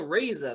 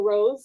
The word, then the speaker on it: Rosa: with me right now raza that's how you pronounce it right uh it's right so you could actually just call me rose it's fine that's how they credit me there you go rose